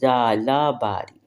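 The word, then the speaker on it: ژالہ باری: तो उसको जाला बारी कुछ मिक्स आवाज होती है जीम और जे की मिक्स आवाज बड़ी ज जाला बारी ठीक है य बारिश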